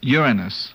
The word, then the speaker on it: Uranus: Uranus. Uranus? It's a correct pronunciation is Uranus.